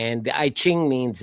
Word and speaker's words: I Ching: The I Ching. It's It's pronounced It's pronounced I is the letter I.